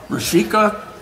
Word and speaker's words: Rushika: I'm going to say how to pronounce his name, which is Rushika. Fernandopulle.